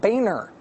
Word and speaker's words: Boehner: the House Minority Leader who says he would like us to pronounce his name Boehner, even though he spells his name like this.